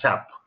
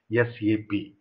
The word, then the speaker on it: SAP: the promises as shampoo don't pronounce as a SAP because it's not optional always you have to pronounce as SC AP with the separate words right then continue the